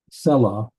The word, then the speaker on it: Selah: Selah, the accent should go on first syllable.